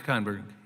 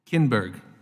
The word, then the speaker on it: Kinberg: my singing name correctly dr. Cohn Berg am i am i pronouncing your name correctly Kinberg see I knew there was a good chance I had that wrong so forgive me dr.